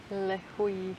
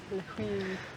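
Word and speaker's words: Līhuʻe: Lehui. Lehui. Remember when we were at the airport and I said Lehu? Yeah. Lehui. That is the gringo way to do it.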